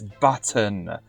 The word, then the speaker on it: button: It has a T in it. It's button.